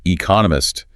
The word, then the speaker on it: economist: And they even break down how to pronounce economist, 4 syllables, stress on the second one.